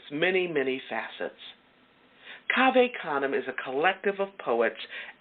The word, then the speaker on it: Cave Canem: family of poets called Cave Canem. Cave Canem. It's spelled C-A-V-E, like cave, okay? Canem, C-A-N-E-M. Look them up. Cave Canem. It's Latin, okay?